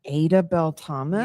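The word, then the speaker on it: Adah Belle Thomas: Uh, what about um I'm gonna I'm gonna butcher this pronunciation. Um, it looks like Adah Bel Thomas.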